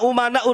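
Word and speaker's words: أمناء: bin Smith Al ulama umanaur Rasul Tapi bacanya Al ulama amanaur rusul saya katakan salah kenapa Karena di sini umana jam taksir ya para ulama itu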